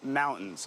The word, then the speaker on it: mountain: what's all around us, mountains. He says standard American English is not to pronounce the T and then end with a nasal sound, mountain.